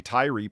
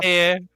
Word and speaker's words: tyre: tear. It's pronounced tear.